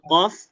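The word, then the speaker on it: قاف: Kalau qof, nah dia pangkal lidah menyentuh bagian lunak atau bagian yang lembut. Makanya dia terdengar qo qi, qu beda lagi kalau kaf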